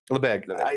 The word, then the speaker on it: Lebesgue: I hate to pronounce this word, but is it Lebesgue? Is that how you pronounce it? Lebesgue. Okay, Lebesgue.